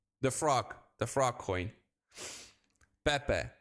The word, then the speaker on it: Pepe: for example um VAB how do I pronounce this by the way I say pee but it's Pepe PE sounds like my